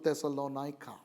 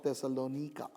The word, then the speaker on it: Thessalonica: epistles and that's to thessalonica or thessalonika depending on how you would want to pronounce it another european city